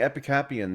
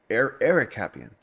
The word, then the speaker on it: Ericapian: Is it Ericapian? It is. I've been saying Epicapian the entire time. Ericapian.